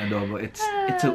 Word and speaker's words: Adobo: Yeah, of course I pronounce it adobo like the way we do it in Philippines.